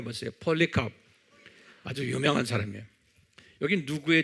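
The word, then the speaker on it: Polycarp: 뭐예요 2 ca r p ole 카프리 한번 발음해 보세요 펄리 카 아주 유명한 사람이 여기 누구의 제대 사도 요한의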